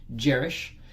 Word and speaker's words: Jarisch: look it up online videos i'm going to spell it for you j a r i s c h jerish and then it's hyphen herxheimer hexheimer it's h